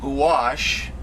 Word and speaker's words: gouache: a an excellent outstanding actually uh watercolor and gouache i pronounced it right this time why which is